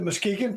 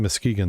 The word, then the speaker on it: Muskegon: and you hit the Muskegon first.